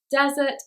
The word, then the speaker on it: desert: and desert very hot they have a different stress pattern and that's how we know the difference between them dessert it's on the second syllable desert it's on the first okay rule number four